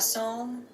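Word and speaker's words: Psalm: this year presents a song for the wild build why do you not pronounce the P at all like I know with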